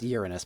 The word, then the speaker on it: Uranus: probe headed for uranus it's pronounced uranus but who the hell cares why would you ask